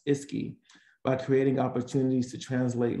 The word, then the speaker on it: ISCCI: READY does this in collaboration with the Implementation Science Collaboration, Coordination, and Consultation Initiative, pronounced ISCI, by creating opportunities to translate local knowledge into generalizable knowledge whenever possible.